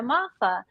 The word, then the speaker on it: Moffa: you say your name is it mofa and I said it's mafa think of Mafia or Jimmy Hoffa you know there we